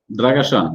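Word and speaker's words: Drăgășani: Dragasani. That was perfectly pronounced. Yes, exactly.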